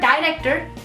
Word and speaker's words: director: The pronunciation changes a bit because the vowels in Spanish language are quite direct. It's E, O, U, A, E, and that's it, and that's why it's director.